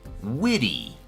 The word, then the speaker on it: witty: Next adjective, witty, or as the Americans from the United States would pronounce it, witty. Like myself, we don't always pronounce the T's so strongly. Instead of witty, we would say witty, like as if it had a D.